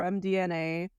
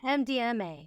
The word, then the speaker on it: MDMA: pure what M DNA what did I say it wrong what is it m MDMA what' I say mdna that's not what it is that's MDM okay druggy